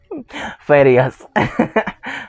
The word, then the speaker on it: Farías: Y así que se pronuncia su apellido, ¿verdad? Farías.